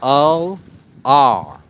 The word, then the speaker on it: Ullr: It's pronounced ULR.